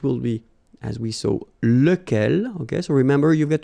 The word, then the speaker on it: lequel: masculine so it will be as we saw look L ok so remember you get to pronounce it look L even if you get